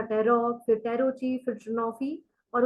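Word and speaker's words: tarot: इसको टैरो बोलते हैं कुछ लोग इसको टैरोट बोलते हैं so please don't call it टैरोट last का जो टी है वो साइलेंट है इट इज टैरो टी ए आर ओ टैरो ठीक है जी तो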